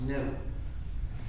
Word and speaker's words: gnu: you see the word gnu is the most humorcharged word in the English language used in countless word plays because according to the dictionary the G is silent and it's pronounced new.